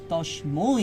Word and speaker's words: তস্মৈ: লোকত্রয় লোকত্রয় উপকারায় উপকারায় লোকত্রয় লোকত্রয় উপকারায় উপকারায় তস্মৈ তস্মৈ এই উচ্চারণটা একটু ক্লিয়ার করতে হবে যেহেতু ঐকার আছে, হ্যাঁ, তস্মৈ।